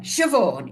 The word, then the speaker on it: Siobhan: Siobhan. Right? Yeah, okay. Siobhan. Yeah, it's nothing like how it's spelt, is it? Really? Right, Siobhan. No, no, it's one of those Irish names.